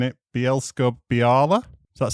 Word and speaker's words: Bielsko-Biała: I'm going to have a go at pronouncing it. Bielsko-Biała.